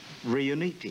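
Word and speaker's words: Riunite: Now, pronounce it correctly with me. Riuniti.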